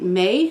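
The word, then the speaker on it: Mei: And I think May, I think is how you say it. M-E-I.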